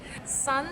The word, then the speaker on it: 身: Sun is like sun in the sky.